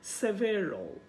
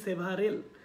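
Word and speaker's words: several: তার উপরে আছে সেভেরল, আমরা বলি সেভারেল কিন্তু উচ্চারণটা হবে সেভেরল, সেভেরল।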